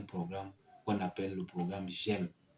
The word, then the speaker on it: JEME: y a un programme qu'on appelle le programme GEM. GEM s'écrit J-E-M-E.